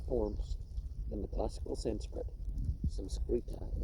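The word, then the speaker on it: Saṃskṛta: Samskrita is how they pronounce that term in the language they call Sanskrit. We find, besides, a multitude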